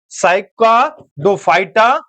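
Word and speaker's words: Cycadophyta: साइका डोफाइटा तोड़ के नाम पढ़ने का प्रयास कीजिएगा। अगर एक बार में नाम प्रोनाउंस ना हो पाए इसको तोड़ के पढ़ने का प्रयास कीजिएगा। मैं आपको बता देता हूं इसको तोड़िएगा कैसे? याद रखिएगा साइका डोफाइटा। ठीक है? जब इस तरह से पढ़िएगा साइका डोफाइटा। अब इसी को जोड़ दीजिएगा साइकाडोफाइटा है ना?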